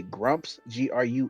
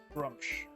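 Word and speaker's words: Gruumsh: And the name of the deity, you say Grumps, Grumps. Grumsh. I will spell it Grump.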